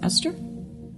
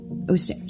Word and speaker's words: Ostara: How do you pronounce it? Esther? Ostara? Ostara? Yeah. Ostara. Ostara. So the E is silent.